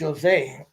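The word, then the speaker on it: José: Like my name, Jose, is pronounced Jose.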